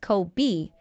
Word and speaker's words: Kobe: The only difference is that Kobe's name is pronounced Kobe, whereas the Japanese beef is pronounced Coobe.